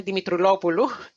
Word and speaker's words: Dimitroulopoulou: I'm Dimitroulopoulou, just to pronounce my surname for you.